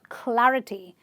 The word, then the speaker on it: clarity: And the last word is clarity, where again you are stressing on the third last syllable because it ends with the ty.